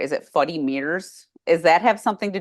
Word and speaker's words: Fuddy Meers: Is it Fuddy Meers? Does that have something to do with Claire's mother and her speech? Yeah. So it's Fuddy Meers, which is Gertie saying funny mirrors.